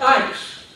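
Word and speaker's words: εἰς: And the other one is E-I-S, pronounced ice.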